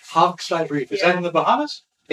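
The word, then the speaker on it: Hogsty Reef: Hogstay Reef. Hogstay Reef.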